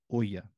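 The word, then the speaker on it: ʻo ia: And when in the piko position, you have the okina o preceding the word ia, and it's pronounced oya.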